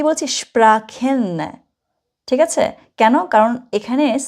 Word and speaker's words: Sprachen: আমি এখানে একটা বলেছি স্প্রাখেন, আবার বলেছি স্প্রেশন। এক জায়গায় আমি খ উচ্চারণ করেছি, সিএইচ এর উচ্চারণ যেটা সিএইচ, আরেক জায়গায় আমি স উচ্চারণ করেছি, ঠিক আছে? মনে রাখবেন, যদি কখনো আপনি সিএইচ এর আগে এ, ও অথবা ইউ দেখেন, তখন আপনি খ উচ্চারণ করবেন।